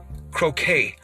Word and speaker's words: croquet: fox sports so yes croquet croquet is how you say croquet i've done cricket events